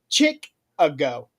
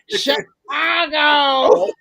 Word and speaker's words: Chicago: and she said Chick-a-go. And you can No. hear the producer behind the camera saying, Chicago!